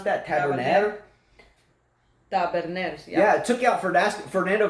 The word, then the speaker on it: Taberner: Is that how you pronounce that? Taberner? Taberner, yeah.